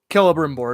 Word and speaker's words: Celebrimbor: Celebrimbor. It's always a hard C.